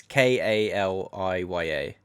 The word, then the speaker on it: Kaliya: but Kalia is spelled Kalia. I'm fucking butchering the name. It's spelled base. It's Kaliya.